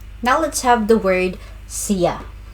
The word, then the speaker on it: siya: Now let's have the word siya. Pronunciation, siya. It's on the second syllable.